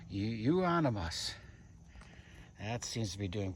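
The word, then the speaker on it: euonymus: Yeah, you that's a rhymes with you. You on the bus. You onus.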